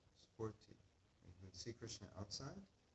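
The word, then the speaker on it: sphurti: That's called spurti. You can see Krishna outside, you get darshan. But when you see Krishna inside, it's called spurti.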